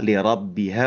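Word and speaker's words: لربها: Kemudian paling di ayat 2 lirabbiha huruf rnya tebal ya. Lirabbiha ro. ro gitu ya. Ro.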